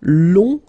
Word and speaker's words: long: Okay, so long, remember you don't pronounce the final G, will become long.